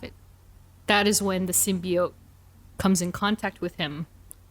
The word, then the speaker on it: symbiote: And so the thing about the symbiotes is that...